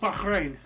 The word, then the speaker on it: Bahrain: 110 years of British rule yeah uh it's pronounced Bahrain okay you know that because I have family